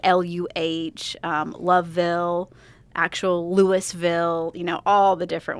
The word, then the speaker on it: Louisville: Um she originally grew up in Louisville, Kentucky.